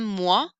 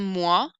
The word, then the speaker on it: mois: Un mois, as is silent. Un mois is a month.